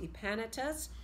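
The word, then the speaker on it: Epaenetus: says greet my beloved it's pronounced EEP Anytus who is the firstfruits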